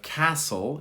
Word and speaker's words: castle: We have castle is the example. Castle, no T.